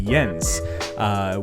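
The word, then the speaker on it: Jens: I spoke to her co-founder actually yens which is really confusing because you spell it like Jen's and so uh he's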